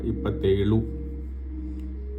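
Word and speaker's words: ಇಪ್ಪತ್ತೇಳು: ल थोड़ा सा यहाँ तालव्य टाइप का प्रोनाउंसिएशन होगा, लू नहीं होगा, इपत्तेलू।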